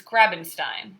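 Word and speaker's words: Grabenstein: lemon Chile's library and the author is Chris I always have to think think of house name its graben Stein because it rhymes with Frankenstein Oh published by penguin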